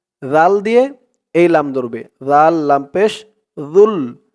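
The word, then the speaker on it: ذو: দিয়ে এই লাম ধরবে জাল লাম পেশ জুল জালের উচ্চারণটা একদম নরম পাতলা হবে জিহ্বার মাথা উপরের দাঁতে এর মাথার সাথে লাগবে জালের উচ্চারণ করার সময়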